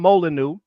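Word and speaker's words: Molineux: There was a dude named There was a dude named Tom Molyu. It's spelled with the French way.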